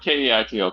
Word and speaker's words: Kaito: Okay, K-A, like K-A-I-T-O, Kaito. Kaito. Okay. Yeah, Kaito. Like a kite and a toe.